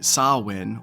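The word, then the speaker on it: Samhain: it's go back to ancient Celtic celebrations particularly sawin or cwin where the S so of the word rhymes with cow the pronunciation coming from the Irish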